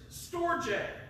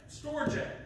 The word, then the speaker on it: storge: Now, the first one is storge. Storge, okay? That's how it's pronounced.